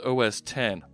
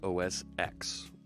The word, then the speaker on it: OS X: do that reset okay it's pronounced OS 10 wrong wrong I have called Mac support they call it OS X I have been in